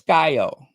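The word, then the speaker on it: Skyhoe: Skyo. Yes, Skyo. It's spelled S K Y H O E. Skyo.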